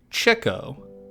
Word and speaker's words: Chico: meant to be pronounced Cho as so as to represent his interest in chicks unlike the common Spanish